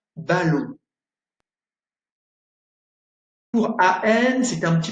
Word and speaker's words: ballon: ON, comme dans le verbe ballon, ballon, et OM, comme dans comptoir.